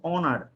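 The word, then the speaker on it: honour: ওকে, এরপরে দেখেন অনার, অনার, অ দিয়ে শুরু হয়েছে, অনার।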